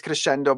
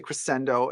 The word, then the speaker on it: crescendo: What you just said now, the crescendo, or depending, in Italian it's crescendo, but you can say crescendo.